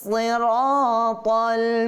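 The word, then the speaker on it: الصراط: জি, পরবর্তী আয়াত, ইহদিনাস সিরাতাল মুস্তাকিম। কি হবে? ইহদিনাস সিরাতা, সি সাদ জে সি, ঠিক হবে মোটা।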